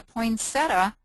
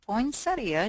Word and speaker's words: poinsettia: day and she has a poinsetta or poinsettia depending on how you say it design on there